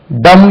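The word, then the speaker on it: dumb: ஆட்டுக்குட்டி லேம்புக்கு பி உச்சரிக்கக்கூடாது அதே மாதிரி டம் என்று ஒரு வார்த்தை இருக்கு டி எம் இ வாய் பேசாதவர் டம் அதுல இதை இப்படி நான் சொல்வது உண்டு பி இஸ் டம் இன் டம் பி இஸ்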